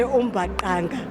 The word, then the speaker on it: mbaqanga: Speaking of Umbakanga, it took me a very long time to learn how to pronounce it properly, so I'm very happy to say Umbakanga.